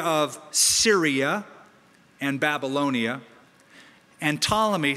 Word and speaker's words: Ptolemy: Seleucus was given the area of Syria and Babylonia, and Ptolemy, spelled with a P-T-O-L-E-M-Y, Ptolemy was given Egypt, North Africa, and Arabia.